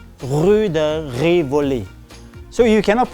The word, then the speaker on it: Rue de Rivoli: So the R in French is pronounced as R. Okay, R. So ladies, if you want to go to this shopping street called it is read in French as Rue de Rivoli.